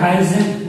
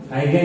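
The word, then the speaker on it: Huygens: एक साइंटिस्ट है हाइजेन, हाइजेन है ना, हाइगेन या हाइजेन बोलते हैं, बहुत लोग हाइजेन प्रोनाउंसिएट करते हैं और बहुत लोग हाइगेन भी करते हैं।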